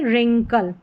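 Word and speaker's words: wrinkle: डब्ल्यू आर में र यानी कि डब्ल्यू साइलेंट है। आर को पढ़ा र। तो देखिए राइट रेस्ट रैक और यह है लास्ट में रिंकल।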